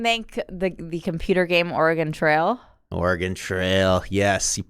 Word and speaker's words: Oregon: you're from Portland Portland Oregon or main oh wow also nailing the let me just say for the record nailing the Oregon pronunciation also at New York New Jersey people say orgon very upsetting oh yeah yeah no